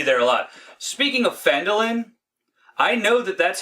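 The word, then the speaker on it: Phandalin: I think you'll be at oh yeah it's fandolin you'll be there a lot speaking of fandolin I know that that's how it's pronounced because when they first bring it up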